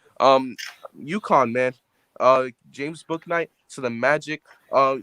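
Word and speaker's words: Bouknight: stealing my script because james book night or boo knight as it should be pronounced but his parents tonight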